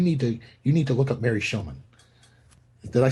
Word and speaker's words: Shomon: Tuesday Foster told me you need to look up Mary SHOMON.